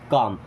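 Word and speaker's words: calm: मतलब होना या रहना काम अब कॉलम नहीं होगा काम होगा यहां पे एल साइलेंट होगा बी काम मीस शांत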